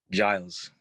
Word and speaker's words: Giles: Giles.